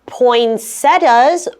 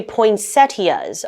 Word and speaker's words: poinsettias: So we have poinsettias, or as some people say, poinsettias. Okay, so it kind of depends on how you want to pronounce it.